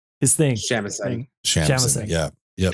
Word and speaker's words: Shamisen: Shamisen. Yeah. Yep. Shamisen.